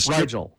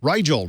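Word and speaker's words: Rigel: Will this be a Riel? Riel. Riel. Okay. Like the star.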